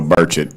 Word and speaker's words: Burchett: Well, Burchett, nobody gets that right either. I was on some show this weekend. I said, "It's birch like the tree and like I just ate breakfast."